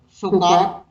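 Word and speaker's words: Sukkot: Selanjutnya ada hari raya penduduk daun atau Sukot. Sukot bacanya kurang lebih seperti itu.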